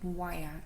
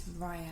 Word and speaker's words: wire: But the pronunciation, the way it's written, it should be actually wire, not via as I say it.